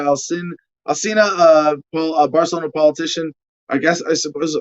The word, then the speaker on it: Barcelona: asina uh well a barcelona politician i guess i suppose i suppose i should be using proper spanish pronunciation barcelona yeah the lisp thing oh my gosh uh